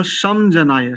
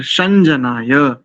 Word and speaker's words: संजनाय: और दीपक जी आपने बोला समजनाय, सम नहीं करेंगे यहाँ पर, संजनाय, यानी इस अनुस्वार को न उच्चारण करेंगे, संजनाय समर्वते।